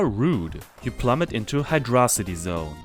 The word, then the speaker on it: Hydrocity: You plummet into Hydrocity Zone. I used to say Hydrocity. Apparently, Yuji Naka thinks that's the correct way to say it.